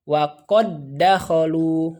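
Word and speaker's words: وَقَد دَّخَلُوا: namun dibacanya tanpa gunnah. Jadi langsung saja wa qad dakhalu, wa qad dakhalu.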